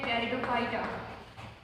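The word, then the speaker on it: Pteridophyta: क्या लिख सकते हैं, टेरिडोफाइटा। इसमें पी साइलेंट होता है।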